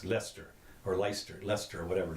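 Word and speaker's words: Leicester: okay just so you know you know and light Chester's pronounce this pronounce Lester or leister Lester or whatever it is it's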